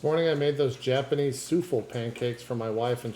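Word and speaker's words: soufflé: Why do you keep saying souffle? That's the correct pronunciation.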